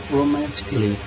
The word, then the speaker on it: romantically: Por exemplo, a palavra romantically. Observe que eu não pronuncio o A.